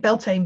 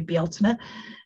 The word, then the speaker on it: Bealtaine: Gotta stop calling it Beltane because that's the Irish name for it, and the Irish want it back. And also that's terrible mispronunciation. It's actually Bealtaine.